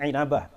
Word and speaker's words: Inabah: inabah inabah inabah bahasanya Bacanya jangan Ambah tapi inabah wafat 828 Hijriah dalam